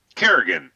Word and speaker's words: Carrigan: is how do you say your last name Kerrigan Kerrigan okay and you go also by